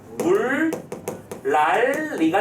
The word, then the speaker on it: 물난리: 얘를 음운변동부터 먼저 해. 뭐가 되는 거죠? 물, 랄, 리가 되잖아.